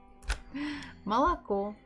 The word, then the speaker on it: молоко: Here we have 3 syllables. And there are no problem with any consonants, so it's M. Next O, is it stressed or not? Not really, so we have to pronounce it as A. Ma, L. Next we have O again. Is it stressed or not? It is not, so again we have to say it as A.